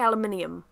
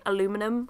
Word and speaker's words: aluminium: I can't even say aluminium. Aluminium? Is that how you say it? I prefer how people say aluminum, I'm gonna be honest. Over here we meant to say aluminium, but I hate it. I would prefer to say aluminum.